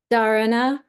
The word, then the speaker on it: Dharana: Dharana. Dharana. Is It's the pronounced the Dharana is not the same as the focus you want for a book, right?